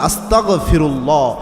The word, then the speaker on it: আস্তাগফিরুল্লাহ: ক দিয়ে উচ্চারণ করবেন না, ক খ গ, গ দিয়ে উচ্চারণ করবেন আস্তাগফিরুল্লাহ।